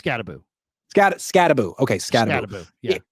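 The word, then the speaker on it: Skattebo: predicting they would take ScattyBibboo or or how I think I'm pronouncing. Is it not is it not Scatty Boo? It is Scataboo.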